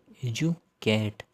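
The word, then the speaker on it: educate: और यहाँ पे जो डी यू है इसका प्रोनाउंसिएशन है वो यू यू बन जाता है। तो AUCATE, एजुकेट।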